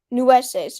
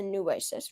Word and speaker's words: Nueces: And now there's more disagreement because Mexico claims that Texas's southern border is the I know how to spell it. It's Nueces. Nueces is probably how you say it.